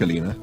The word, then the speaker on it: Alina: It was about a week ago, when Dirk had tried a simple subterfuge to trick Alina, the old bat's name was Alina, pronounced to rhyme with cleaner, which was an irony that Dirk now no longer relished, into opening the fridge door.